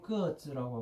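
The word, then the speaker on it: 个子: 키는 중국 발음으로 끄어즈라고 하거든.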